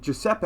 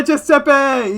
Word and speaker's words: Giuseppe: It's Italian. The G is pronounced G. Giuseppe, how to pronounce. Jason's about to get wrecked live. Giuseppe? Yeah, Giuseppe!